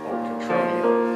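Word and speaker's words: Cotroneo: Catronio.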